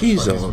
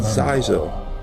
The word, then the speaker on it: Xizor: It does touch upon some very went well as planned, Prince Xizor? Of course. I promised 300 ships. Xizor, that's how you pronounce that name. I've always said Xizor.